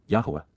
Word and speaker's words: Yahowah: from 11 QPs, Yahowah, Yahowah, the proper pronunciation of the name of Eloah, God as directed in